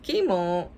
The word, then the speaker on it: Kimo: stink you say aoki my name is kimo pronounced chemo i asked mr todd